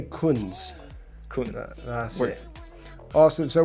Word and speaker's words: Kunz: do you say it it's Kun it's like the and last names is German so it's in